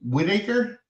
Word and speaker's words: Whitarce: And with me is Whitaker. Is that how you pronounce Whitaker. it? Yeah, Whitaker, Yeah.